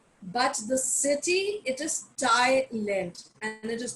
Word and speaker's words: Thailand: that is a but the city it is thailand and it is not island please do not pronounce it as thailand but thailand and so